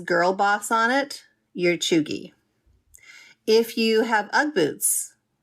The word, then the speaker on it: cheugy: And in case you're wondering, that's spelled C-H-E-U-G-Y.